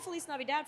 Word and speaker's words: Feliz Navidad: No, We would- Navidad, like a dad. Feliz 'Cause Navidad the is dad's the title of our capitalized. movie. No, I get so many people that are like, you're saying it wrong. I'm like, no, but the dad part, That's right, that's right.